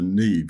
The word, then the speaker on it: Niamh: My good friend Michael, who listens to the show, hello Michael, called his daughter Neve because he has an Irish heritage, and Neve is spelled Niamh.